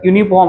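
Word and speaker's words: uniform: इथ बघा फॉर example इथ युनिफॉर्म आहे युनिफॉर्म मध्ये य न समजा हे स्पेलिंग सुरू झालेला आहे पण आपल्याला हे स्पेलिंग लक्षात नाही घ्यायचा आहे याच उच्चारण याच प्रोनन्सशन प्रोन्सशन य न सुरू झालेला आहे म्हणून आपण अ युनिफॉर्म म्हटला अन युनिफॉर्म नाही म्हटला तर ही एक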